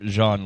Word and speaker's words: Jean: It actually, you pronounce his name Jean, like Jean-Luc Picard.